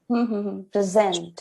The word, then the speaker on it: present: I'm saying present now the first one when the stress is on p r e it is used as a noun that means have you